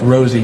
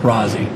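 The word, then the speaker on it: Rozzi: yeah it's pronounced R it's pronounced Rosie not Rosy I'm not going to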